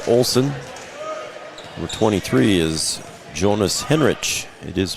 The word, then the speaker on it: Henrich: along with Kirby Olen number 23 is Jonas Henrich it is pronounced Henrich at least I talked to the coach and